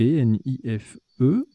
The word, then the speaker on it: nife: On a joué Nife, N-I-F-E. Vous aurez la définition tout à l'heure, ça se prononce bien comme ça, Nife.